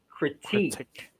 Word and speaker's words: critique: is a critic yes but you say the word as critique critique so stress is a second syllable not then critique somebody